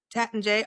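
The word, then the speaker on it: Taittinger: Mum, you went to Lanson, or do they pronounce that different too? Uh, Tatinger, oh, J. Tatanjay.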